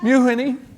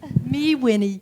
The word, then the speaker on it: Mewhinny: Mewhinny. Me, Winnie. You, Lucy.